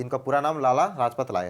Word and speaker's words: लाजपत राय: ए तिलक, B Vipin Chandra Pal, सी लाल रज ला sorry लाल sorry थोड़ा सा प्रोनाउंसिएशन में प्रॉब्लम हो रहा है, तो कोई बात नहीं। लाजपत राय।